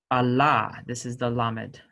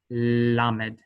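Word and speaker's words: ל: So we will be using the light L. So lamed, Allah, Allah versus Allah, Allah.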